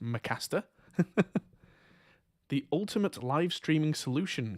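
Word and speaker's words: M★caster: It's M Starcaster. So I think that's pronounced Mcaster.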